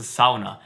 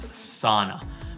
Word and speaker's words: sauna: Now, you might be wondering right now, what is a sauna? And you've probably just heard it pronounced sauna. But I'm gonna clear the air and tell you that it's pronounced sauna.